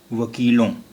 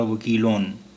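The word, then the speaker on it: وکیلوں: वकीलों, अगर ये नून गुन्ना नहीं होता तो यहाँ नुक्ता होता और फिर इसका तलफ़ुज़ या उच्चारण होता वकीलोन।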